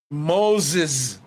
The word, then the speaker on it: Moses: Moses is pronounced with a Z, not a S.